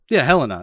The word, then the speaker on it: Helena: have what's her name, Helena, or how they pronounce her name? Helena.